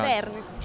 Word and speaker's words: Verne: Come si pronuncia? Verne.